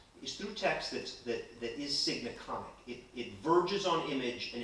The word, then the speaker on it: signaconic: It's sign, S-I-G-N, and icon, but I pronounce it signaconic.